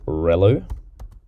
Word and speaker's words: ReLU: it's going to equal relu or rel u depending on how you want to pronounce it and then the final